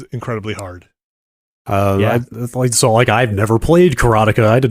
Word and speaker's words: Karateka: I used to say Karateka. Karateka. I know some people say Karateka. I said Karateka.